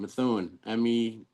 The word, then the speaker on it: Methuen: same town, Methuen. I'm actually curious how you would pronounce that if I Oh, didn't here tell we you.